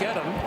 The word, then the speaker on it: Edom: By the way, you've heard us call him Mike Edom. He was Mike Eden for a long time. He's asked for the traditional family pronunciation of Edom.